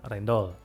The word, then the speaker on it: Rijndael: ada juga algoritma rendol tulisannya rijndael ya tapi membacanya rendol Hai agoritma rendol ini